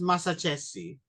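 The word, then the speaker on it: Massaccesi: I know it's Mazacchese.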